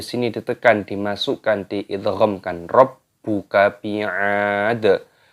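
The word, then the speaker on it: بِعَادٍ: Rabbuka bi'ad. Ainnya dipanjangkan, ada tanda alifnya, matobi'i dipanjangkan 2 ketukan saja, jangan panjang-panjang.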